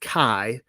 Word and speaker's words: chi: for you but the the chi is pronounced Kai for the she is